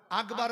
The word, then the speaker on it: আকবার: দেয় একটু বলে দিই আল্লাহু আকবার আল্লাহু আকবার আকবার বলে গ পড়ে ওইটা গ হবে হবে না